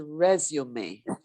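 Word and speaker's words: résumé: that word resume resume yes so it's it's pronounced resume it's it's kind of have it has a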